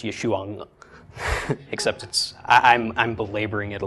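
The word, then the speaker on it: ישוע: So it's Yeshua, except I'm belaboring it a little bit.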